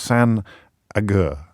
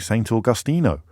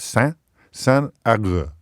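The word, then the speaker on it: Saint Agur: It's pronounced San Agur, not, as I started off saying, Saint Augustino. So we've gone from Saint Augustino or something, Auguran or something, to it's San. It's spelt Saint, but pronounced San Agur.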